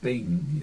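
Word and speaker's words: beinn: And Gaelic's pronounced near the tip of your teeth. So it's Bing, you know, that's how you get that sound. Whereas in English, Ben is pronounced far back, but in Gaelic it's pronounced near the top.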